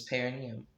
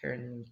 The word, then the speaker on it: perineum: He's supported by the palm of Clark's hand digging into his perineum, and the other hand balancing him by the throat. Hold on. Did I pronounce that word correctly?